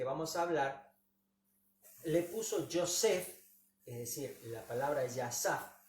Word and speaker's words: Yosef: José en hebreo significa, se dice Yosef. ¿Cómo se dice? Yosef.